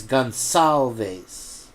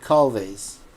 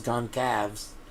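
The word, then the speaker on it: Gonçalves: I finally figured out how to say their name, because C in Spanish is A, B, C. So it's Gonsalves. It's not Calves. It's not calves, Goncalves.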